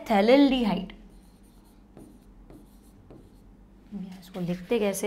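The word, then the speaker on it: phthalaldehyde: था, तो ये है थैलेल्डिहाइड। इसको लिखते कैसे हैं हिंदी में, इसको लिखते हैं थैलेल्डिहाइड। हाँ, थैलेल्डिहाइड, ठीक है, पी से स्पेलिंग होगा ना, पी साइलेंट रहेगा, थैलेल्डिहाइड।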